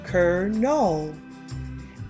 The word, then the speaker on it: Colonial: Colonial is pronounced Colonel.